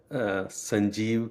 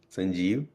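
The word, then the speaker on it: Sanjeev: Yeah, it's uh Sanjie Kapoor. S A N J E V Sanjie and then Kapour is K A P O O R Sanjie Kapoor recipes.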